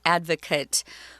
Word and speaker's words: advocate: advocate for you but the verb form of this word which is spelled the same is pronounced differently you can advocate though